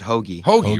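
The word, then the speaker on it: Hoge: know that this no i think he pronounces it hoagy right it's hoagy yeah because he won a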